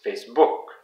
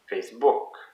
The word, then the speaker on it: Facebook: Again, notice that it's always the last syllable that is the most stressed.